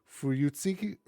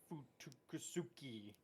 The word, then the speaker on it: Fuyutsuki: And then also too, we get more backstory on Gary's favorite pronunciation for the episode, Fuyutsuki.